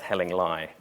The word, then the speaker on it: Hellingly: 2009 uh which was somewhere near Hastings called hellingly they all have the most it's actually pronounced helling lie but um they all have the most incredible